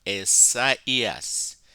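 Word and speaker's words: Ἠσαΐας: diaeresis, diaresis is diaeresis is when the diaresis occurs on top of one of the second letter in a diphthong to say to you that you should pronounce it separate from the letter that it stands with.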